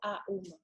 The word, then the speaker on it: Aum: corps par rapport au AUM. Alors, dans un premier temps, le OM, quand on le prononce, vous voyez bien que les lèvres, elles sont complètement différentes. On fait OM. Et Aum, on ouvre. Aum.